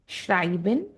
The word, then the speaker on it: schreiben: S से ha का pronunciation sh की तरह होगा. So the example words schreiben, schön.